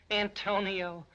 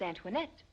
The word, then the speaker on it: Antoinette: yeah he kept saying Antonio I need you Antonio who's that ain't that you my name is Antoinette oh that's what he said well he pronounces very bad when he's Delirious we thought you might